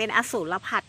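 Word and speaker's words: อสูรผัด: อสูร ผัด นะ คะ อสั อ่า ออก เสียง เป็น อสูร ผัด เนาะ อสูร ผัด นะ คะ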